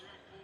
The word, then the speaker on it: Riakporhe: You can follow me, just type in my name, Richard Reactor. I'll spell it for you.